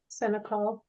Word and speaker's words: Senecal: We do have Todd Senecal, is that how you pronounce it? Senecal.